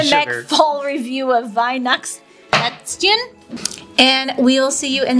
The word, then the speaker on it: Weihnachtsplätzchen: You say Weihnachts with an S instead of an E-N. Weihnachts. Say it all together. Weihnachtsplätzchen.